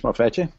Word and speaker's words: MavEtJu: I'm from, geocaching name is Mavetje.